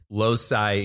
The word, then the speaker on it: loci: Yeah, but that's why I gave it a hard C.